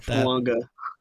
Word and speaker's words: Fuaga: I get going with fuaga fua it's fua there's a silent end in there's a hidden